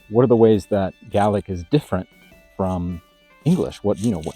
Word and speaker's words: Gaelic: country outside of Scotland, you might see this word and pronounce it Gaelic. And that's kind of confusing since the native language in Ireland can also sometimes be referred to as Gaelic. So in this video, I'm going to refer to Scottish Gaelic using the native pronunciation, which is Gaelic.